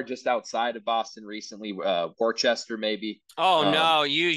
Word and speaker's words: Worcester: We worked somewhere just outside of Boston recently, Worcester maybe. Oh Um, no, you just made yeah, everyone angry in Boston. yeah, it wasn't the same. Worcester.